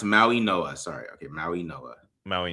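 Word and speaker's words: Mauigoa: Pronounce Maui Noah.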